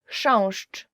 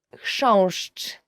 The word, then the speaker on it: Chrząszcz: Chrząszcz, beetle. So the first word is, and I promise you this is the most difficult word you will ever learn in Polish, as for the pronunciation, is chrząszcz.